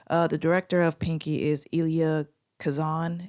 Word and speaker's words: Elia Kazan: The director of Pinky is Elia Kazan, if that's how you pronounce it. It's Elia Kazan.